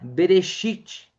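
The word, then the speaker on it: בראשית: Eh, é essa pronúncia, tá? Berechite, né?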